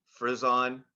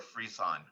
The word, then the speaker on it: frisson: Frizz-on or freeze-on.